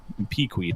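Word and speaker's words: piqued: in his diary have peed my interest that's how you actually pronounce that word if anyone says Peak they're wrong the matter warrants further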